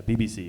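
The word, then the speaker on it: Bee Bee Sea: it's spelled Beebeesea. But yeah, BBC.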